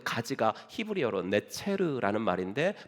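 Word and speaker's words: נצר: 왜냐하면 이사야서 11장 1절에 그 가지 나무에서 가지가 난다 그랬때 그 가지가 히브리어로 네체르라는 말인데 발음이 나자르라고도 발음이 돼요.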